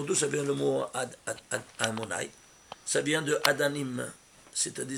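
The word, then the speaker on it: Adonai: Parce que c'est la gematria de nom de Dieu Yud Kei Vav Kei, écrit et lu. Il se lit Amonai. Et s'écrit Yud Kei Vav Kei.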